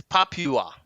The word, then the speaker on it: Papua: Actually, pronunciation is it's Papua.